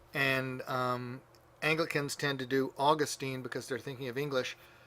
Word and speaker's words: Augustine: a Latin class but it goes back to the third syllable from the end if there's nothing holding it back and so if you're speaking English Augustine because that's the third to the end but if you're speaking